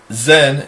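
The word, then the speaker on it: Zayin: Zen is the next letter. I pronounce it that way for a reason. Zen is a Z sound, and it's also interesting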